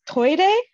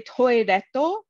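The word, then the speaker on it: トイレ: It's toire, but if you also say toiretto, that also works.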